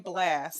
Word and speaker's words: Blxst: So you got the name Blast, and so I love it, and I love the way you spell it.